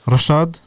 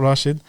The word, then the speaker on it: Reshad: yeah duck my head Rashaad strick Russia Hamza strick not Rashid aka Claudius aka OMA